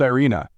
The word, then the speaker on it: Irene: Her name was Irene, pronounced Irina, and she seemed to